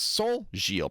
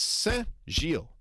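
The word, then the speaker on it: Saint-Gilles: So, he says Saint Gilles, but that's not how you say it in French. It's Saint Gilles. It's the e na- the e n nasal, not the o n nasal. It's the wrong nasal vowel.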